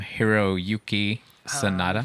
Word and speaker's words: Hiroyuki Sanada: Hiroyuki Sanada.